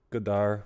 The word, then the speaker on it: Godard: Godard without the D.